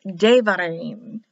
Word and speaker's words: Devarim: When it's written, spelled like this without the dot, it's spelled with a B, but pronounced as a V. Spelled as a B in the word like Devarim, but pronounced Devarim, V.